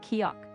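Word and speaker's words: 기역: In Korean, one fundamental consonant sound is kio, which often sounds like a soft g or k.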